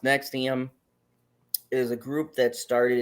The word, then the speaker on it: NXIVM: gonna bring it home but anyways uh uh pronounced next iam is a group that started in 1998 as